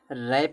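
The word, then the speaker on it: wrap: रैप में W silent होता है।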